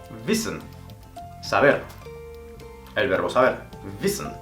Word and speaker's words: wissen: En alemán la W se pronuncia como una B, haciendo vibrar el labio inferior.